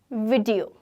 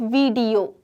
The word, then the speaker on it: video: तुम क्या देख रहे हो, एक वीडियो अपलोड हो रहा है, वीडियो, नॉट वीडियो, वीडियो मतलब दोनों में छोटी की मात्रा लगेगी, वीडियो।